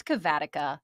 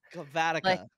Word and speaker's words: Cavatica: it's it's okay if not everybody does the pronunciation right it's cavatica cavatica the the um the background there is that